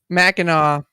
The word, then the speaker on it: Mackinac: pronounce this it's it's it's m-a-c-k-i-n-a-c mackinaw oh mackinac i know